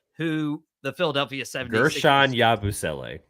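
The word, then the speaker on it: Guerschon Yabusele: I'm not going to be able to pronounce who the Philadelphia 76ers. Gershon Yabusele. It's not hard. Like Yabusele. Gershon Yabusele.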